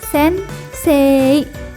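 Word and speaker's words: 先生: bacaannya tetap kako kemudian bunyi vokal epanjang maka penambahan vokal dituliskan dengan I huruf i contoh nya pada kata sense menjadi Sensei pengucapannya tetap sense pelesapan bunyi uu nya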